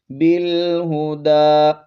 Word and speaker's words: بالہدی: دال کھڑا زبر دا، بالہدی، اس یا کا ہم نے تلفظ نہیں کرنا، بالہدی، یہ علامت نظر